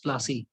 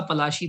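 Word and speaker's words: পলাশী: Actual नाम इसका पलाशी था। ठीक है, लेकिन इनको क्या प्रोनाउंस करना नहीं आता था, प्लासी हो गया। आज हम लोग इसको बैटल ऑफ प्लासी के नाम से जानते हैं। ठीक है, तो इसका एक्चुअल नाम जो है बंगाली में जो प्रोनाउंसिएशन है वो पलाशी है।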